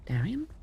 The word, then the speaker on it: Darien: Darion.